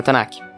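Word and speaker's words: Tanakh: tiraram os deutero canônicos da tanak ou melhor tan né ou Kai é mudo então eles tiraram os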